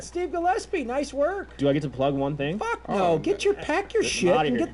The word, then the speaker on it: Gillespie: Gillespie. Gillespie Comedy, like Dizzy Gillespie.